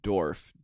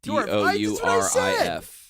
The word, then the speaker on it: Dourif: I still can't pronounce it. Brad Dorf. Dourif.